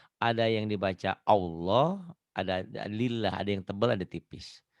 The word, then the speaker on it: Allah: Yang menyebabkan tipis dan tebal lafaz Allah ini tergantung baris sebelumnya. Kalau baris sebelumnya barisnya di atas, nah ini baris di atas. Dibacanya tebal, Tetap wallah tuh ya. Rasulullah. Tapi kalau sebelum lafaz Allahnya barisnya di bawah, dibacanya tipis. Bismillah, lillah. Tuh ya.